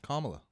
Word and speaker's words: Kamala: name in the world is it really kamala i think i heard it was supposed to it's supposed to rhyme with pamela so kamala makes sense kamala yeah it's like it's